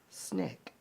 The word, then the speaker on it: SNCC: Student Nonviolent Coordinating Committee the SNCC pronounced snake now s n CC